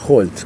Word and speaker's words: Holt: Y Holt también suena la H.